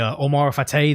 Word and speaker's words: Omar Fateh: I need more to stay consistent with supporting you over, who was the Omar Fateh, the other mayor or mayoral candidate?